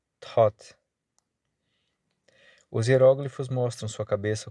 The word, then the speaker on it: Thoth: A pessoa retrata aqui, a pessoa retratada aqui é um homem de nome tof, pronunciado pronunciado com um ou longo. Algumas pessoas dizem, mas ele se pronuncia thought.